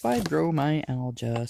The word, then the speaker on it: fibromyalgia: syndrome that's my hand yeah it's pronounced fibromyalgia syndrome the word fibromyalgia is a combination of Latin roots fibro connective tissue fibers my muscle al pain and condition of which is why they